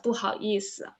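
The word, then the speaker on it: 不好意思: But the correct answer is correct pronunciation is 不好意思.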